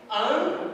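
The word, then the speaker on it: ἄγγελος: O primeiro terá o som de N. Então eu vou pronunciar angelos.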